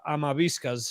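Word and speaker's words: Amavisca: in the 80s uh his name in spanish is pronounced uh amabiska's his name uh he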